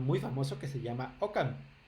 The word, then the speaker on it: OCaml: famoso que se llama OCaml o Camel, depende de cómo lo quieran pronunciar.